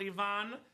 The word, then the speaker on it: Ivan: Is it Ivan or Ivonne? Because you know I'm Bulgarian, Robbie, and Ivonne is my cousin's name. Oh, okay. Pronounced Ivan, not Ivan, so Bulgarians would call it Ivonne.